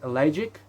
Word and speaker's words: elegiac: I see funereal is I realize funereal is elegiac. I realize it's I realize I'll go and see that word, which is pronounced this way.